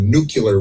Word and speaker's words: nuclear: Last night I heard somebody call it a nuclear weapon. It's a nuclear. No, it's a nuclear weapon. No, it's an important word. Look at the way it's spelled. Pronounce it that way.